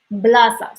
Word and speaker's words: blasa: Fin, fin, fin, blasa. So in B you have like to press on your lips, blasa.